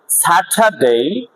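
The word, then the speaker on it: Saturday: একটা ওয়ার্ড, সেটা হচ্ছে স্যাটারডে। স্যাটারডে না শনিবার, স্যাটারডে না, ডে উচ্চারণটা কি ডে, এ ওয়াই উচ্চারণটা কি হবে এই ডে, স্যাটারডে। অর্থাৎ আরটা সাইলেন্ট হবে কারণ আর এর পাশে কি আছে কনসোনেন্ট।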